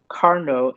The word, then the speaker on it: Carnot: is that of a carnot engine okay i guess it was french so you don't pronounce the t okay so kelvin's statement